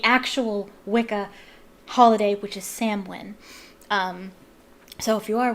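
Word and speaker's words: Samhain: to reverse the actual Wicca holiday which is samwin um so if you are Wicca please have a happy and safe Sam win Sam win I've been pronouncing it wrong for the longest time because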